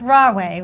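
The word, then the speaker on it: Rahway: 25th 1887 in new jersey and ra it's raw way right am i pronouncing it that's right yep right away now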